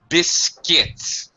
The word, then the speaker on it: biscuit: to sure okay Carolina biscuit biscuit don't need yeah you don't need a qua sound just a k sound biscuits right exactly yeah